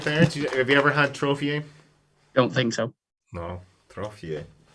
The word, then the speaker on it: trofie: But trophy, hang on, trophy, which I think is how Rob pronounced it, is the only 6.